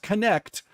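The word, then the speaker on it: Knecht: some kid named whose name is literally Dalton connect it's spelled KN NEC HT but it's pronounced connect and he was a projected lottery pick projected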